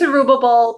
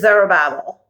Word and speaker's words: Zerubbabel: a cot and um I say it's Aruba Bowl but other people pronounce it is there a babble just so you're aware